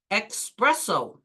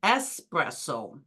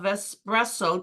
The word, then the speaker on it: espresso: People say espresso, they should say espresso. This is a very common error probably because it sounds like express which means fast but it's really espresso.